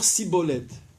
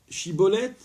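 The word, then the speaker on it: שיבולת: Donc vous dites Shibolet, il vous répond Sibolet. Et donc il se dénonce automatiquement.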